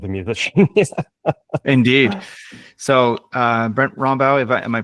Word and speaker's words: Rombough: So Brent Rombough, am I pronouncing your last name right? Maybe you can. It's close. Rombough.